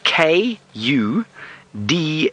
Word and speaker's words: kudu: better than me it's k u du u c do and often in the local languages out here in South Africa and many parts of the world U is pronounced o so it's kudu and